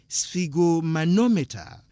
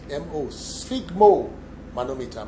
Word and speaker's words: sphygmomanometer: Don't worry about the spelling, it's just S-F-I-G. That is how it is pronounced. In reality, it is spelled S-P-H-Y-G-M-O, sphygmomanometer.